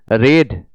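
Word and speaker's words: read: रेड, रीड, तीनों रूपों में रीड ही लिखा जाता है, सिर्फ प्रोनाउंसिएशन चेंज हो जाता है। रीड, रेड, रेड।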